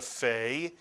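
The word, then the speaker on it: פ: How is the pei pronounced then? F is correct, and so we call it a fei. It's really a pei that makes an F sound.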